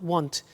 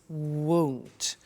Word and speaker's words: won't: the money is won't be careful with the pronunciation it's not want it's won't so the example is